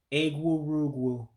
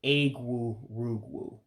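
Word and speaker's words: egwurugwu: letters in english uh the e's actually sound like a's that's why you hear me say eggwoo rugwoo for rainbow okay rain gauge in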